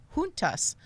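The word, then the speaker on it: Juntas: surrounded by the 1985 trial of the junus hunas There He Go thank you for putting the pronunciation there for me hunas which prosecuted the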